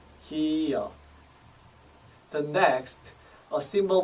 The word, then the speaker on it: 기역: The symbol makes G and a soft K sound, as in the beginning of the word Kim, followed by the 역 sound. 기역, 기역, 기역.